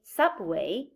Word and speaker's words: subway: but we say supermarket star but we say co-star where but we say underwear way but we say subway part but we say counterpart link but we say hyperlink so these prefixes we have here would take this the primary stress well now we're going